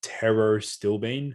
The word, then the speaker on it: pterostilbene: a natural origin terrastillbean it starts with p but it's pronounced taro still bean found within blueberries and